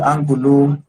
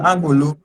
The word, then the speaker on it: Angbulu: Angulu. I hope I pronounced that correctly. Yes, yes, you pronounced it correctly. It's Ambulu.